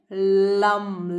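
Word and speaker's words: लं: लम लम नहीं बोलना है इसको, लम नहीं बोलना है इसको, बोलना है लम। लम जो जबान है वो आपके ऊपर की तरफ जाके फोल्ड होगी और फिर म का प्रोनाउंसिएशन आएगा।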